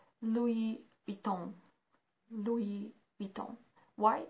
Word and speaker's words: Louis Vuitton: it is pronounced like Louis Vuitton do we beat them why because it's again French and we pronounce it like Louis Vuitton not Louis Louis and